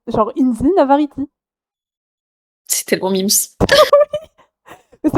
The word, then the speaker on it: Navarrete: Ça ne se dit pas Navarrete, Ah c'est vrai que j'aurais dû m'en douter. Ça ça se se dit comment? Navarriti. Navarrete? Ouais, genre Inzi Navarriti.